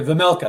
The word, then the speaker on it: Vejmelka: I can't even pronounce his last name. Vejmelka. Yeah, Vejmelka.